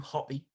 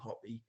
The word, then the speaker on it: Hoppe: automatically uh good news to start uh matthew hoppy and it is pronounced hoppy i was a little bit unsure up until